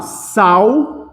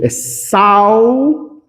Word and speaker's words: sal: aqui ó eu falo sal Poxa de novo sal viu é assim que eu pronuncio saudável esse L da som de u Então se esse L